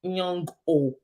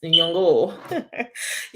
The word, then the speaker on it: Nyong'o: My Kenyan friend taught me how to pronounce her surname. It's Nyong'o, right? It's not Nyong'o. It's Nyong'o.